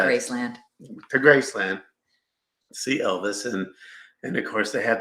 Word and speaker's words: Elvis: "Dad, when are we going to get to see the elves?" And I said, No, not elves. It's Elvis. "Oh, is this his house?"